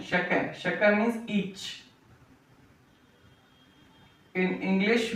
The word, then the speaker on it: chat: Shak.